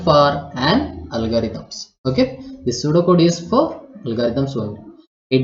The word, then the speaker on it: pseudocode: Okay, pseudocode. P is silent.